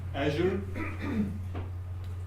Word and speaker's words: Azure: The backend APIs will be hosted in Azure. And I always doubt about the pronunciation, but I just checked with the Microsoft MVP that Azure is the correct pronunciation.